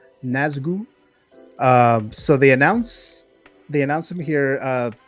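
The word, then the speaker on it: Nazgûl: How do you pronounce this character or this figure's name? Is it NAZGUL? NAZGUL.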